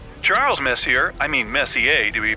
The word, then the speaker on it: Messier: the m stands for Messier pronounce Messi not Messier as in is your room messier than mine Charles Messier I mean Messier to